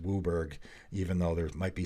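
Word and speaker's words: WUBRG: pronounce it it just has become to be pronounced wooberg even though there might be some vowels missing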